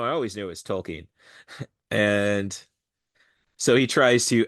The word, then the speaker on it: Tolkien: So he invites Tolkien's family in to discuss this, and this is where we learn that it's not pronounced token, It's pronounced Tolkien.